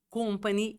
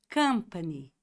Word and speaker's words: company: Então, por que não ensinar que empresa, em que companhia você trabalha, não é company e sim company. Company. Company. É como, imagine umas meninas, moças dançando cancan em Paris. Cancan, cancan, company.